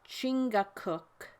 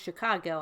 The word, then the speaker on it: Chingachgook: For instance, one of his acute Indian experts, Chingachgook, pronounced Chicago, I think, has lost the trail of a person he is tracking through the forest.